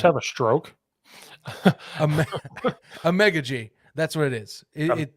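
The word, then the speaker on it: Amegadjie: Ame- Amegaji.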